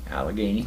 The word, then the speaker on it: Allegheny: Pittsburgh correct correct that well how do you pronounce Allegheny Allegheny Allegheny Hospital and only there for a short